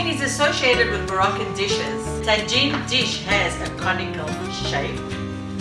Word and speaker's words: tagine: Tagine in Moroccan, you pronounce it tagine.